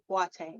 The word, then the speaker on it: Boateng: People pronounce it differently. I've heard Boateng, but my husband is actually from Ghana, West Africa, and Sweet. it's pronounced Boateng.